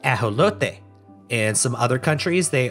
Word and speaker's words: ajolote: Pronunciation of their name varies regionally. In Spanish, the native language of their homeland, they are called ajolote.